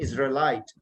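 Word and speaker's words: Israelite: ये प्रोनाउंसिएशन सुन लें, इजराइलाइट, इसराइल के रहने वाले।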